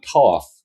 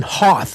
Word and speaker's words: Hoth: Yeah, on Toth. On Hoth with an H.